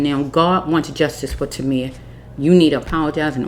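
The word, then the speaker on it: Tamir: Timir. Sorry, Timir.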